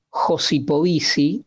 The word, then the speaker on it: Josipovici: es un académico británico que se llama Gabriel josipovici se escribe J o s i p o b